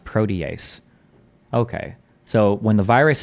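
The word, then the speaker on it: protease: harboring harboring the matured membrane Fusion Machinery transmembrane protees Serene 2 which Co colocalizes with A2 at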